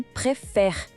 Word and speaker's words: préfère: O pulo do gato aqui é o som do E em préfère, que é um som aberto, bem parecido com o E da palavra café em português.